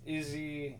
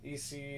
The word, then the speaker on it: Issey: and for this person I pronounced easy easy and II say whatever works for you I'm not trying